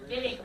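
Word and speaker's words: Wittig: use for this the viig reaction got to say it like a true German come on a big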